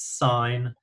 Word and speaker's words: sine: you can see here even though it says si n we do we don't pronounce it's in its sign this is cosine the